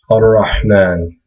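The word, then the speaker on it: الرحمن: So this would be a hamza with a fatha, ar-Rahman, ar-Rahman. So actually you don't pronounce this lam at all, because ra is considered one of these special letters.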